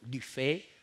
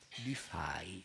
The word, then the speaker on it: Dufay: soltanto dirlo, Guillaume Dufay, erroneamente chiamato Dufay o Dufay, la pronuncia è quella quattrocentesca, no? Dufay, ecco, del franco fiammingo.